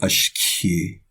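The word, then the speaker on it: ashkii: And then the next word is pronounced low. See, there's no marks at all. It's pronounced completely low. Ashki.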